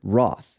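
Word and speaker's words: wrath: notice that even though we pronounce it as though it begins with an r it's actually one of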